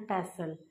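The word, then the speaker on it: pestle: टी is silent over here.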